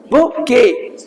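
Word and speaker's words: bouquet: हैं सर बुके बोलते इसमें टी साइलेंट रहती है बुके की स्पेलिंग पूछते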